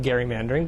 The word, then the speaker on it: gerrymandering: it Gary mandering well if we want to be technical about it we should we should call it Gary mandering but you know most of the people who still use the proper uh proper pronunciation of Jerry mandering you know it's they're